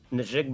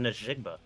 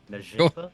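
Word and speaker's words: Njigba: Don't say the hard R, Billy. It's not Najigba. Yeah. Like, that just sounded... I said Najigba. It's not that. It's recorded. Najigba?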